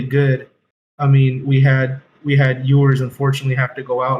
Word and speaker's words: Ewers: I mean, we had Ewers unfortunately have to go out, like I said.